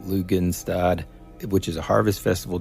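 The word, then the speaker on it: Lughnasadh: 1st it starts um I think it's pronounced lugan stad which is a Harvest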